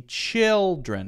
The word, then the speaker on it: children: when you're practicing so if I see children I remember okay chill is the stressed syllable not Tren so maybe you take this